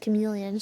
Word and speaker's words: chameleon: What the I know it's pronounced chameleon.